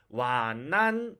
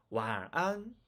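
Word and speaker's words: 晚安: 네, 앞으로 여러분들 와난 이렇게 말씀하시면 안 됩니다. 와안 이렇게 말씀하셔야 됩니다.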